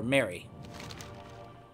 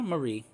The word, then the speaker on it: Marie: Or Mary. No, Marie, if it's spelled like that.